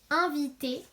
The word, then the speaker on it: invité: Alors, le mot invité, on retrouve le son 1 qu'on vient d'apprendre, puis une deuxième syllabe vie, et puis T avec le E, le plus simple, le E de école.